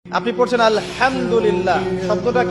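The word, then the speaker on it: الحمد لله: আপনি পড়ছেন আলহামদুলিল্লাহ।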